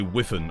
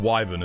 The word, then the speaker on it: wyvern: When people pronounce wyvern other than the wyvern and say whiffen. Oh dude, I f I do hate that wiffen. It is pronounced wyven as well.